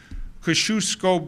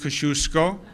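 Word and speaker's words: Kosciuszko: when you're going through Kosciusko bridge is the way I pronounce it it's a great debate but I'm sticking with Kosciusko Brooklyn Battery Tunnel Goethals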